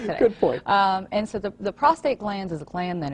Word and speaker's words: prostate: said it right because I hear a lot of prostrate prostrate something different is something that's when you're flat on the ground exactly prostate is what we're talking about good point and so